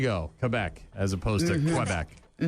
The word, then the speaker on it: Quebec: FYI, if you're if you're trying to say it properly, it's Quebec. Yes, I know. I just can't do it. Just say it. It's Quebec.